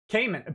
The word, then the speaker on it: Kamin: chat hey thank you Kamin pronounced my name like the Cayman Islands Cayman Minnie Haman Minnie always